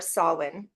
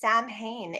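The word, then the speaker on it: Samhain: so that's where I start with Halloween or soln as we say in the British traditional kind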